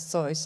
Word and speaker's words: Zeus: Then in German we pronounce Zeus.